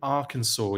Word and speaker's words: Arkansas: still no Troopers in Arkansas yet um uh yeah you might be surprised I got that pronunciation correct I've been in the states long enough to know that that's Arkansas and uh Kansas amazing